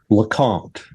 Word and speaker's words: LeCompte: far into this um correct me on the pronunciation of your last name. Lacant.